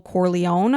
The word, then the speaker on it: Corleone: but one of the main characters is Michael Corleone and I'm I'm hoping I'm saying that properly